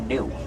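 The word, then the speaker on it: gnu: another name in Swahili that name is spelled g n it's pronounced new they get that name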